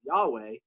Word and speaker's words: Yahweh: they would read the the y would become a j and with the vowel points of adonai but the words and consonants of yahweh you got jehovah which became a mispronunciation but the other common